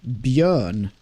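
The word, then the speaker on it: Björn: So, the Swedish pronunciation is bern your American eyes or ears. Bern is that is that will help you with a Y. You don't pronounce the J as a J. It's like a Y bun.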